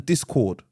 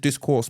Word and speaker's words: Discord: Yeah, and we've also we're gonna open up the Discord. Someone corrected me. I said discourse before, and it's like it's Discord actually.